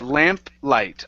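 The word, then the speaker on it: lamplight: light okay so it's lamp light lamp light lamped light okay one more time you're still adding a t there so one more time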